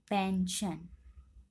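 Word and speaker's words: pension: ऐसे ही पी एन एस आई ओ एन, इसमें आई ओ जो है एस के बाद आया हुआ है इसलिए हम यहाँ पर इसका उच्चारण श पढ़ेंगे, पेंशन।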